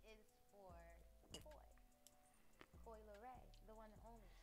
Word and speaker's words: Coi: And actually, Coy is spelled K-O-I like the fish. Like the Coy fish. But I'm C-O-I.